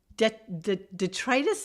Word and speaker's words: detritus: something that whales eat is it like baleen detritus and and congratulations for pronouncing it correctly because that's exactly how you